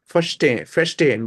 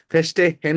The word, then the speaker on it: verstehen: এটা এইচটাকে আপনারা Verstehen. ওয়াই এর মতো উচ্চারণ করেন, কারণ এখানে এইচটা মিউট থাকে। ফেস্টেন বলেন, ফেস্টেন ওয়াই এর মতো, ফেস্টেন, ফেস্টেহেন বলবেন না কিন্তু।